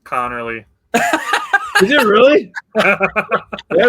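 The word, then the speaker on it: Conerly: Josh Connley Jr. out of Oregon. You mispronounced it. It's Connor Lee, bro. It's Connorly.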